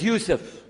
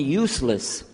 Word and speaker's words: Yusuf: la my name is Yousef can you say Yousef who you say Yousef you're very good I wish You' teach my wife she keeps mispronouncing it she calls me useless hamdulillah now how many of you were in